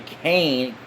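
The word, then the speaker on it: Cane: those perfectly the but the Kane k c a n e even though it sounds like a k anyway I don't always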